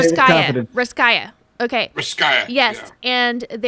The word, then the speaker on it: Russkaja: Russkaja.